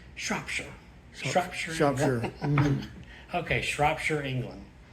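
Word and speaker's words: Shropshire: about that that is neat but they started mispronounced it shopshire but my English friend last way correct me no it's shopshire Shire Shire okay shopshire England is where they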